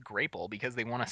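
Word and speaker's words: Grāpple: It has a little thing underneath that's like, "Pronounce it like grape." And it's spelled out and it also tastes like a grape. Yeah. Now it makes sense that it would be pronounced grapel because they want to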